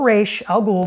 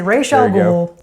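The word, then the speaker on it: Ra's al Ghul: pack that will include Ross or re Al goul depending on your preferred pronunciation going back and forth today I'm feeling re so I'm gonna say ra Al ghoul Talia al ghoul and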